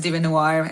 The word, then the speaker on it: DieveNoire: It's Larisa, and the band's name is Devinwahr.